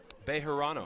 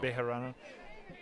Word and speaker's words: Bejarano: third base side Kimmy you want to pronounce that last name again Bejarano Bejarano she thought about throwing it